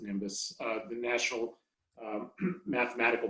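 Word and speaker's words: NIMBioS: science foundation called nimbus it's comes out to n-i-n-b-i-o-s but they pronounce it nimbus uh the national um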